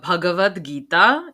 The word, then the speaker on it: Bhagavad Gita: Yeah, I also want to make sure, guys, it's pronounced the Bhagavad Gita in case you need a pronunciation guide, because